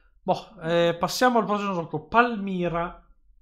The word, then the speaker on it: Palmyra: Palmaira, perché c'è la Y in mezzo. Okay. Palmaira. No, Palmira. No, non si legge Ai, quindi no. Palmaira. No, questo già parte con un menus incredibile. Bassiamo il volume perché è un pochino dei bong incredibili. Direi aiuto. Ok. Sempre dal mixer facciamo, va là. Palmaira, vieni al 30. Facciamo 39%, ok. Le mie orecchie, pensassi le mie. Cosa? Dammi qua. Allora, questa qui è la pronuncia giusta di Palmaira.